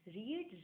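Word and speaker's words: read: क्योंकि रीड रेड है, रीड रेड रेड, लेकिन इसका प्रोनाउंसिएशन रेड होता है बट इसको लिखते रीड ही है, ठीक है।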